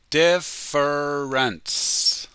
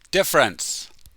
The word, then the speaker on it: difference: Slowly. Difference. But when we speak quickly, it's only 2 syllables. Difference.